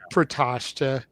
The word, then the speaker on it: Protoshita: And Ryan, we know how it's pronounced, bro. Like we're just doing it as a gimmick at this point. We know it's Protoshita. We're just making fun of the way it looks.